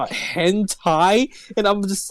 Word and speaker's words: hentai: And then my sister was like, oh, it's pronounced hentai, and I'm just like, I want to die.